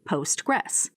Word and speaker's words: PostgreSQL: This was soon renamed PostgresQL and is today generally pronounced as simply Postgress.